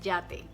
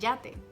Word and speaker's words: yate: Do you hear any difference between llave and yate? No, because there's no difference here. That's why children or people learning the language struggle a lot when it comes to recognize which letter they have to use in a dictation or in a writing, because they sound alike.